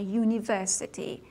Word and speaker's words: university: اما صداشون صدای حرف صدادار نیست. با این که این حروف با حروف صدادار شروع میشن، ولی حرف اولی اونها مانند یو تلفظ میشه. یونیورسیتی، یونیت، یوسفول، یونین. بنابراین اونها با حرف تعریف ای مورد استفاده قرار میگیرن.